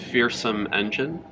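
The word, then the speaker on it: Feersum Endjinn: Yeah, this one's called Fearsome Engine. Okay. But it's spelled all weird, like Feersum.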